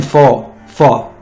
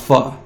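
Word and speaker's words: phở: dinner so I had vegan full fall it's pronounced pho which was really good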